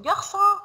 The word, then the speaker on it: garçon: So when we put this CDI down of the C, it will pronounce like C. Yeah? When we say garçon, français.